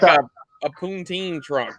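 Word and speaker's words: poutine: had like a a poonteen trunk is that pountine is that how you say it yeah that's how we say it you keep saying it like that our ice cream trucks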